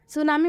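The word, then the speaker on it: tsunami: कौन-कौन से हैं सुनामी सुनामी में आप देख सकते हैं टी पहले आया है ना ही लास्ट में आया है ना ही टी के बाद से न है ना ही टी के बाद से सी है लेकिन फिर भी सुनामी में टी साइलेंट हुआ है क्योंकि यह एक्सेप्शन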